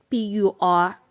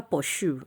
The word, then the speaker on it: pursue: it's right segments is p-u-r-s-u-e pursue pursue pursue never push you don't say pursue its pursue